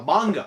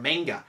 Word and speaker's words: manga: And finally, it's not a comic book, but is a Japanese comic book, which we call a manga or a manga, however you want to pronounce it.